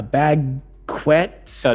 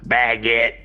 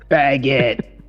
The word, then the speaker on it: baguette: got there you go what was it a bag quetz no no it's pronounced baguette baguette okay I think I can get to it